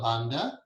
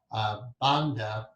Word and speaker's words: Bandha: Then there's something called Mula Bandha. These are called, in Sanskrit, it's hard to pronounce it with the English tongue. It's Band, like B-U-N-D, but not even that.